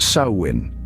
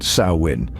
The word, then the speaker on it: Samhain: to what your instinct might tell you is pronounced sawin Yes you heard that right sawin the word hails from Gaelic and means Summer's